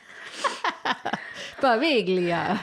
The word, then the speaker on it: Poveglia: And, that's my story on Poveglia Island. Poveglia Island. Good job. Poveglia Island. We'll just say it all the different ways. Poveglia.